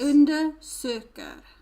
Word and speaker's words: undersöker: Because so you don't say a sh sound? No. Oh. No, because this is a compound word. Okay. So there is a split between the R and the S. Undersöker.